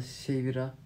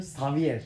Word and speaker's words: Xavier: Ama şimdi karşı kazandı Şevira. Ne? Karşı kazansaydı Şevir kazanmış olacaktı ya. He. Ama Şevir ne yapsın ya? Şevir ne la? Şevir. Nasıl okunuyor? Xavier. Oğlum Xavier. Xavier.